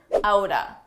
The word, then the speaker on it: out of: Let's talk about a common reduction, outa. Out of, side by side, you can pronounce as outa, outa.